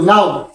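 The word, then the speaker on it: know: হয় তাহলে কে এর উচ্চারণ হয় না কে সাইলেন্ট হয় যথা কে এন ও ডব্লিউ নাও কে এন ও ডব্লিউ নাও তাহলে আমরা এখানে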